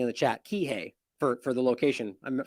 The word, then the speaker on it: Kihei: I'm telling you right now that I'm much Kihei someone's saying in the chat Kihei for for the location I'm sorry I mispronounced it that that ultimately that we should